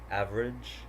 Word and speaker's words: average: Okay, so here the vowel immediately after a stressed syllable is frequently not pronounced.